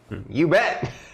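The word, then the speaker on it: Ubbett: their team is lupano ubet that's l-u-p-a-n-o and then ubet is u b b e t t you bet um he is a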